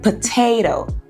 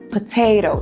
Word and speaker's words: potato: Ou quando nós temos aí o T na sílaba tônica, na sílaba forte da palavra, como em potato. Pat, a sílaba forte, potato. Tá vendo? Aí nós temos um tezinho com aspiração, potato. Mas aqui sou um pouco